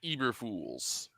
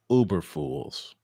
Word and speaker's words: Eberflus: I know why, but you got to say his name right. Matt Eberflus. Uberfools.